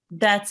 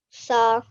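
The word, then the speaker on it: ث: sa, Tha. sa. Okay. Again, with the tha, it's pronounced very softly. Make sure your teeth are being touched by your tongue, the upper teeth.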